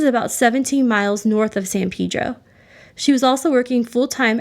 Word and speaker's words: San Pedro: what i learned is it's pronounced differently depending where in california you're from so san pedro is right next to los angeles and the people in san pedro say san pedro but much of the